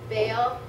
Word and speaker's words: Baal: the silver and gold, which they used for Baal. Did I say it right, Robbie? Baal. Baal, yeah.